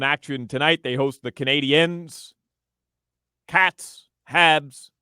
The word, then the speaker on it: Canadiens: Yes, they are not the Canadians. They are the Canadiens.